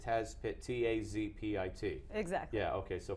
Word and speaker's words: Tazpit: as I would pronounce it, Tazpit, T-A-Z-P-I-T.